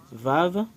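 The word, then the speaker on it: וָו: C'est Vav quand on le prononce en hébreu.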